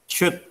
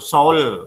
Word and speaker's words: should: Should. Tulisannya S-H-O-U-L-D. Kamu kan pasti salah tuh, soul. Nah, ini salah. Kalian membacanya should ya.